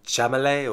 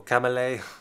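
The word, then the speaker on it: Chalamet: now in it timothy i can never pronounce this guy's name but chamele or kamelay however he pronounces it jonah hill meryl streep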